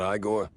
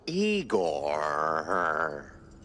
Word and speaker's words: Igor: Igor? Not Igore? No, Eigor.